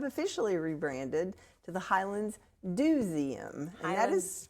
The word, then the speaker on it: Do!zeum: And I'm happy to say that we have officially rebranded to the Highlands Duseum. And that is spelled D O exclamation point ZU M.